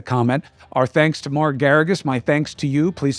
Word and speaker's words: Geragos: Mark Geragos rhymes with asparagus.